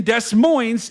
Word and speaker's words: Des Moines: Timmy Iowa here and the S in Des Moines is silent.